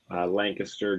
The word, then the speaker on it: Lancaster: I'm in York, so it's right between Harrisburg, Lancaster, Gettysburg, Baltimore, kind of right.